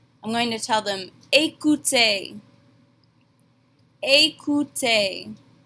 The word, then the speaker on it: écoutez: Here we have both of our phonetics rules with that E accent aigu and the easy letter combination. They make the exact same A sound at the beginning and the end of this word.